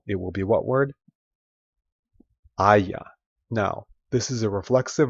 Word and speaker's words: haya: And a lot of times, because you don't pronounce the H and there's a lot of vowel sounds here, things will just run together. And you would say me haya caído.